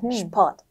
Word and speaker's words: Sport: Sport, 그래서 그 슈프 사운드는 같이 빨리 말해야 돼요. 네, Sport. 이렇게. 슈하고 풀을 구분하거나 그러지 네. 말고 슈 이렇게 빨리 말하라는 그런 조언이었습니다.